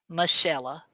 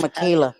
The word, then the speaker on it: Michella: So, Teresa, my name, you say my name? Michella. Michella. Oh, I said it wrong. Holy smack. That's okay. Michella. Okay, I won't say it wrong anymore. Michella. Yeah, that's fine. I was saying Michaela.